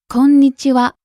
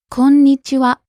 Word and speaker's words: こんにちは: Konnichiwa. You hold the n sound for a little bit, don't you?